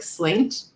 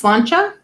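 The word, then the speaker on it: sláinte: i'm cilantro um so when you read it uh like if you're reading as an american it looks like slaint or slainte it's cilantro uh and in scottish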